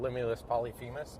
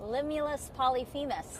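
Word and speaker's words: Limulus polyphemus: The one we have here is called Limulus Polyphemis. I say that three times. Limulus Polyphemis.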